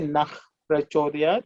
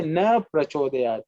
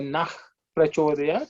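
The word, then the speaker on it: नः प्रचोदयात्: You can say Nah Prachodayat or Nah Prachodayat. But we should never say Na Prachodayat. You know, that's also mentioned because without the Visarga, if you pronounce the word, it basically means don't. Na means no.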